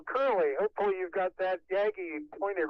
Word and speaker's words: Yagi: And now, Curly, hopefully you've got that Yagi pointed right up here. Yagi, I prefer Yagi as the pronunciation, but now you're just